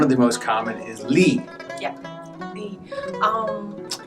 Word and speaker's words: Li: Usually there are 3 ways to pronounce Li. If you see it in the roster, you may pronounce it as Li or Li. But the most common pronunciation in China is Li, the third tone. If you just say Li, that's probably okay as well.